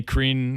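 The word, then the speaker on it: Krhin: other centre-back role um renee crin or i've been told by my uh my balkan friends is the correct pronunciation but if that's wrong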